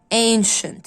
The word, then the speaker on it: ancient: musical shows meetings special exciting round traffic modern plays ancient. السي مع الاي هي بتنطق ش. ancient.